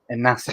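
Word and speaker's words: Inácio: Bear It's with me one pronounced second. Gonçalo Inacio. Inacio.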